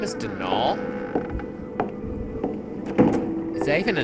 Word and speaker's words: Donal: That was the caretaker, Denal Delaney. Not Donald, mind you. There's no D at the end, so it's pronounced Dol.